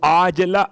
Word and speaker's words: عاجلہ: ایسی نیند کے عاجلہ، وہ جو آپ کہتے ہیں معجل اور معجل عین کے ساتھ، یہ عاجلہ عین سے ہے.